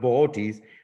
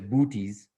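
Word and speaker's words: Boötes: the whole constellation of ball T's which most people want to pronounce as bootys but that constellation really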